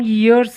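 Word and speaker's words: years: मे as well some यर्स एगो इसको याय य प्रोनाउंस किया जाता है यर नहीं यर तो कान होता है सो इसको आप ध्यान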